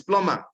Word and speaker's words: plumber: is the B it's plumber the B should not be pronounced a consant that not